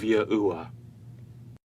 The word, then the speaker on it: Yahuwah: What you're going to discover is that the key historical figures and the overwhelming historical evidence points to the phonetic pronunciation of Yahuwah.